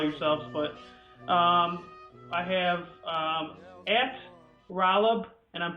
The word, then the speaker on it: Rolub: you guys call yourselves, but I have at Rolub, and I'm pronouncing that right, right, Rolub?